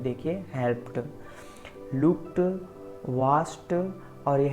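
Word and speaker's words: watched: देखिए helped, looked, वाच्ड और यह है वाच्ड।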